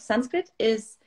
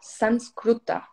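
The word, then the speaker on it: संस्कृत: talking about pronunciations actually the pronunciation of sanskrit is either sanskriti or sanskrutta so a little bit different as well and it's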